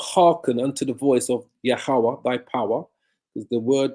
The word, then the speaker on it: Yahweh: Yah, ha, wa, ah, which pronounces Yahweh.